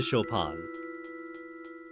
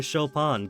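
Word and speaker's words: Chopin: all that big into shopan shopan the the the Polish composer don't tell me you've been pronouncing a choing all this time okay that door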